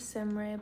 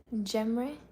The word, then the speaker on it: Cemre: My name is Semre, but in English, the letter C is not pronounced like in Turkish. It's actually pronounced like the letter J in words such as jelly, jacket, or jump. So, Cemre.